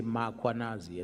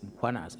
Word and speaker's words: Mkhwanazi: them to pronounce muanaz, they will put an a after m. They will say muanazi and there's no a muanas.